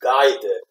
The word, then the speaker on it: guided: a neat okay anyway so guided has a D consonant right the last consonant of the word is D so you put you put you put when you put Edie to make it pass form you get that extra syllable so all the all